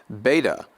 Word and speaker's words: beta: Beta will be pronounced as B in English, like boost, boost.